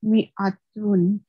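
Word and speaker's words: مائة: It is pronounced mi'atun.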